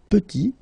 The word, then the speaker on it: petit: And then we get petit. Il est petit. Elle est petite. Okay, exactly the same idea. Final T is not pronounced.